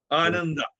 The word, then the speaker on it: Ananda: Ananda. Anada. How do you spell it?